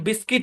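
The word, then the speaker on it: biscuit: তারপর আরো কিছু শব্দে ইউ সাইলেন্ট থাকে, যেমন বিস্কিট, বিল, বিল্ডিং, মনে রাখতে হবে জাস্ট।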